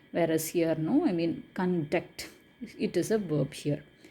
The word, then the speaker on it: conduct: So here we are giving the accent in the first syllable, whereas here the accent is given in the second syllable.